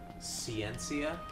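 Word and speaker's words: Scientia: Ciencia. Ciencia.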